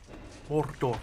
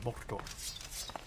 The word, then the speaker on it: Mordor: Mordor, I think is how it's the preferred pronunciation. Mordor.